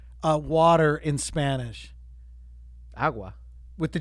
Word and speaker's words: agua: It's a really soft G. It's supposed to be in the back of the throat.